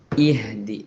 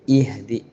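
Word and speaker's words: اهدنا: വീണ്ടും ഇവിടെയും അവസാനിക്കുന്നത് മദ സുക്കൂൻ നീട്ടിയിട്ട് തന്നെ മുസ്തീ ഇഹദി ഹിന് കാറ്റ് പുറത്തുവിടുന്ന രൂപത്തിൽ ഇഹദി പറയേണ്ടതുണ്ട് ആദ്യത്തെ അക്ഷരത്തിന് കസ്ർ കൊടുത്തുകൊണ്ടാണ് ഓതേണ്ടത് ഇഹദി അല്ല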